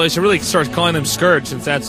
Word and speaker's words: Scourge: Note that we can see Dragoon is using the Scorch, although he's really starts calling them Scourge, since that's how you pronounce it.